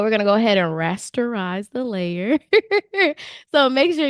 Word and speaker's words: rasterize: I always say that wrong. And my husband always gets on me about it. He's like, "You're not saying it right. What are you saying? It's rasterize."